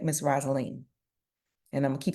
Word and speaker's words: Rosalene: up on the Queue that I had been mispronouncing your name so I'm gonna make sure that I get it correct Miss roselene and I'mma keep saying U thank you so